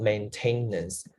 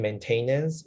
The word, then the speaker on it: maintenance: form is maintained but the noun is not maintainness if you say in maintenance maybe in the listening part you will not recognize the word because you say it wrong it would be maintenance